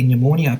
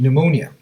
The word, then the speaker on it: pneumonia: can't you hear a pneumonia patient urinating because P is silent and scientists have discovered